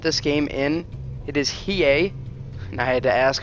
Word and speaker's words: Hiei: to pronounce that but I believe I have it down with EA perhaps more emphasis on the H for more of a hey but that remains to